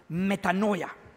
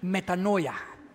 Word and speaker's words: metanoia: word repentance is translated from the Greek word metanoya would you pronounce that after me metanoya metanoya now meta means change and Noya means n